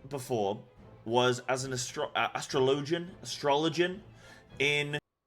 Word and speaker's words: Astrologian: thing I'd healed before was as an AST astrologian astrologian in it's pronounced astrologian keep up with the times on ifra Extreme